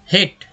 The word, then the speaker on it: hate: अब मान लीजिए लिख रहे हैं इसमें HATE, तो यही ए जो है बन गया हमारा ए के रूप में उच्चारण हुआ हेट।